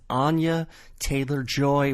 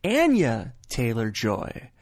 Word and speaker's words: Anya Taylor-Joy: Her name is commonly mispronounced as Anya Taylor-Joy when it's actually Anya Taylor-Joy.